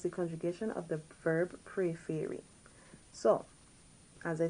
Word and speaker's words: préférer: So we have the E with an acute accent on them. You get that A sound, not A.